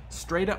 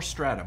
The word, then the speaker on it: strata: all right number two stata stata or strata both pronunciations are correct and this represents a